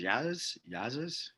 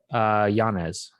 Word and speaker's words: Yanez: How do you say Adrian's last name? Is Yazes? Yanez.